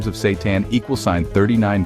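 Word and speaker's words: seitan: Yes, it's pronounced Satan. And no, it's not evil.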